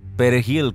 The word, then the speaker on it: perejil: Dominicans pronounce it perejil, with a trilled Spanish "r." The primary Haitian language, however, is Kreyol, which doesn’t use a trilled r.